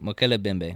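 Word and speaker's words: Mokele-mbembe: The M is silent. Mokele Bembe? Yeah. Okay, Mokele Bembe.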